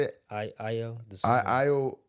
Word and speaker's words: Ayo Dosunmu: I Ayo Dosunmu. I Ayo Ayo Dosunmu.